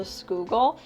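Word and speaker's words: Schuylkill: a steady picture of the schoogle which is really spelled like shuckville and then here you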